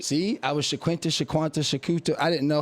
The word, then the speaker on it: Shaqunta: Shaquanta. Shaquanta. Oh, I was right. He was right. See, I was sha shaquanta.